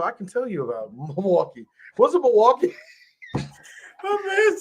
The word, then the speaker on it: Milwaukee: In fact, it's actually pronounced Milwaukee, which is our mountain for the good land.